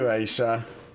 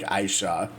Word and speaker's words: Ayishah: It sounds like It almost sounds like the I is silent or something. It sounds like she's saying like Aisha or something or she's saying it just really fast. So the eye is kind of getting lost in translation.